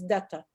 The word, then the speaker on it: Dutta: So we can pronounce him Professor M.K. Datta. D-U-T-T, Datta. I know how to spell it, but I don't know how to pronounce it. So it's Datta.